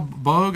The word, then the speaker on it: Boag: I had Wal Boag, I guess that's how you pronounce it, B-O-A-G, Bob Gurr, and on the same show.